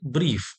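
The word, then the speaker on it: brief: இதுல பிரீஃப்ங்கிறதுல ஆக்சன்ட் இல்ல. அதனால நம்ம ஃபர்ஸ்ட் சிலபல்லயே வச்சு சொல்லிரணும். ஆக்சன்ட் ஒரு சில வார்த்தைகளுக்கு இல்லைங்கிற பொழுதுஃர்ஸ்ட் அதுல ஆக்சன்ட் வர மாதிரி நம்ம இமேஜின் பண்ணிட்டு பிரீப் அப்படின்னு சொல்லிரலாம்.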